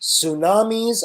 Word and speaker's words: tsunami: And of course, tsunamis are big waves caused by underwater earthquakes. And that is the end of the slideshow, guys. That is correct. Catherine is right. The T in tsunami is silent.